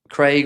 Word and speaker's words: Craig: Craig rhymes with the Hague.